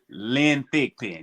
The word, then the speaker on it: Lynn Thigpen: Lynn Thigpen, yes.